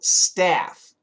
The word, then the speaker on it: staff: between stff and St yes there's a big difference Patrick stuff staff St t u FF that's a short u uh like fun Fu n fun stuff stuff and St FF that's a short a like happy or apple so staff so give the stuff to